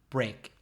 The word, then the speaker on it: brake: your foot on the brake correct the brake is that b r e a k no that's this council b are a k e same pronunciation great and it's also